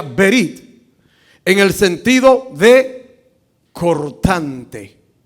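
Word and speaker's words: ברית: una palabra en hebreo que sí que se pronuncia berit en el sentido de cortante oiga lo que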